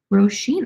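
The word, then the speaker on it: Róisín: bought oh excuse me thank you for correcting me roshin rosheen i've never heard that as name before i feel like i've seen the spelling but i've never heard it pronounced like that before and that's really cool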